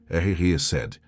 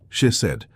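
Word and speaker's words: חסד: da sua honra é Chesed. Pronuncia comigo em voz baixa onde você estiver. Chesed. Com o som gutural que vem do fundo da alma. Chesed.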